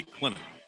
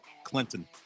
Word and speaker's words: Clinton: Got to teach him the proper way to say Clinton. I think he said Clinton.